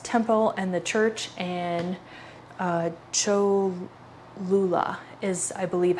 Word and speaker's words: Cholula: to the largest temple and the church, and Cholula is, I believe, how it's pronounced.